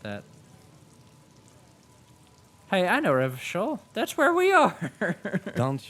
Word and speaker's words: Revachol: Oh, I was pronouncing it correctly. Revachol.